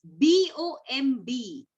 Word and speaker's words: bomb: The next word is B-O-M-B. Bomb. We don't say bomb. It's B-O-M, bomb.